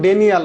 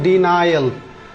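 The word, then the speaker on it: denial: ঠিক একইভাবে এল দেখেন, এটা কিন্তু ডেনিয়াল না, এটা কিন্তু ডেনিয়াল না, প্রোনাউন্সিয়েশন হবে ডিনাইল, ডিনাই, এই যে ডি তে ডি, তারপরে NYI, ডিনাই, এল, ডিনাইল। এই প্রোনাউন্সিয়েশন গুলো কিন্তু অনেকের ভুল হয়ে যায়।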